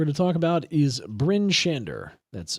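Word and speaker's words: Bryn Shander: Next town that we're going to talk about is Bin Shander.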